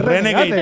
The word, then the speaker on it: Renegade: Reneg, ¿cómo que Reneg? Renegade, porque hay que pronunciar las cosas bien.